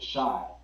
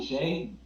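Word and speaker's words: Shai: been amazing still but shy I mean Shay yeah I just call him SGA cuz I mean I people pronounce it different ways that he needs to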